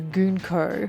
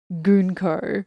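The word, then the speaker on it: Gunko: and we're introduced to gonko yes apparently that is how you say her name gonko her appearance is already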